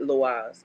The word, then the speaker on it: loa: is uh I don't loas loas loas okay I don't know why I be trying to mispronounce that it's Lo but that's Haitian Spirits